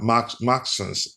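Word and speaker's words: Maxence: Maxons. That's correct pronunciation.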